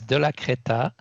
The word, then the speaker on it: Delacrétaz: it's not fun so my last name is de la creta that's how you pronounce it in the french speaking switzerland if it was france you would say the lack it does you would say the endings that in swiss with in switzerland we don't so it's de